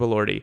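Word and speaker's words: Elordi: Yes, Jacob Allorty. Um, all I could think of was Adrien Brody because it basically rhymes with that and I knew that was wrong.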